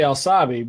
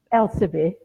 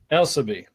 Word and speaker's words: Elsabe: I'm going to say Alsabi, but I'm probably saying it wrong. So it's Elsabe. Elsabe.